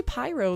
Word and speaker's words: Pyro: thinking i was like some people say it like piro oh really no it's definitely pyro like py means pie right the name smells